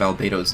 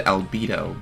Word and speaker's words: Albedo: Also, for some reason, they decided to change the pronunciation of Albo's name. In UF, they said Albo, but in Omniverse, they say Albo. I don't know how you have like some sort of weird inconsistency with the pronunciation of your own character, but if you want to know what I prefer, I prefer saying Albo as opposed to Albo.